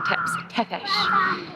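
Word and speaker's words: Țepeș: So apparently I was doing his name wrong, Tepesh.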